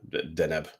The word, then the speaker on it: Deneb: no, it's technically just Deneb.